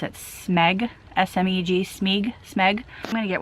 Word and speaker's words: Smeg: I can't even pronounce it. Smeg, S-M-E-G, Smeg.